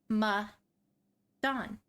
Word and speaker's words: Medan: So, Man of Medan, which that is how it's pronounced. When we were planning this, I have heard Man of Medan, Man of, just other words than Medan. It is pronounced Ma-dan.